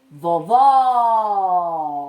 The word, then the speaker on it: vovó: Aquela que tem o som aberto é vovó, acento agudo.